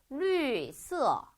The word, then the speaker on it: 绿色: 그러니까 오늘 배우는 거는 땡땡이 발음 위에 표기하는 방법이니까 당연히 그 위에 성조를 표기해 주시면 돼요. 저 한번 읽어볼게요. 绿色绿色 자, 그 다음에 두 번째 단어 여자친구예요.